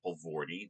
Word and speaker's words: Poelvoorde: My name is Poelvoorde. That's how you pronounce that strange collection of letters that looks like my name.